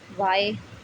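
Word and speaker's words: why: जैसे अगर डब्लू के तुरंत बाद एच आता है तो एच साइलेंट रहता है। ठीक है। डब्लू के तुरंत बाद एच आता है तो एच साइलेंट रहता है। जैसे कि वाई, वॉट, वैन, वेयर। ठीक है।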